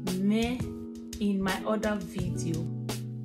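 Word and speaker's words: mwen: people in Edo language, can be very complicated to pronounce, because I've tried this with my children. When you say me, when you don't have that Benin language accent, it is quite difficult to pronounce words like me. Me is spelled M-W-E-N.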